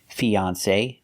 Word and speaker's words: fiancé: They're pronounced exactly the same. Fiance, fiance. Fiance, the same pronunciation. E, the long E like green beans. Fee. Then the second syllable is on. On like on and off. Fion.